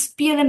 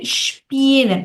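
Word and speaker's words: spielen: বলছিলেন তখন হচ্ছে আপনি স্পিএল এন বলছিলেন এটার উচ্চারণটা হবে ইসপিএল এন কি হবে বলেন তো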